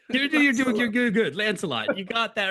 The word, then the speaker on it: Lancelot: Lancelot, you got that right.